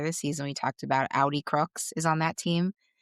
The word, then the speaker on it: Audi Crooks: I will say um how do you pronounce her name? I want to make sure I don't mess. Audi Crooks. Audi Crooks.